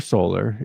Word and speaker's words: Sol: The official title is Sector Solar, also named the Sol Sector, pronounced Sol, is the holiest division of imperial space within the Segmentum Solar.